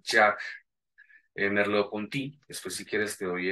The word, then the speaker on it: Merleau-Ponty: Y otros más recientes es de un filósofo francés, se pronuncia Jacques Merleau-Ponty.